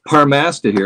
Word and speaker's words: Parmastahir: Well, Phil Goss, my uh Tolken, how do you pronounce it? Apass. Uhhuh. It's Parmasta here.